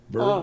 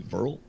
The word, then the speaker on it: Verl: I wouldn't want the job of some firefighters in this German town of Whirl. oh Burl. no. W's are pronounced with a V, so it'd be Verl.